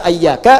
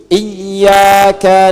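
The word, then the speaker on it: إياك: Jangan dibaca ayyaka, jangan dibaca hayyaka dalam salat, ya kan? Dan jangan dibaca iyaka. Dibacanya apa? Iyaka. Ayo baca iyaka. Ikuti. Iyyaka na'budu wa iyyaka nasta'.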